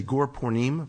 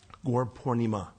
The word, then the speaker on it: Gaura Purnima: um gor pora by a lot of people say gor porim please get the A on the end there it's a long a gor pornima okay gor pornima coming